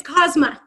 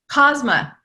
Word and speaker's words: Kozma: and I'm and I'm pronouncing your last name correctly and it's Kozma Kozma yeah and your job title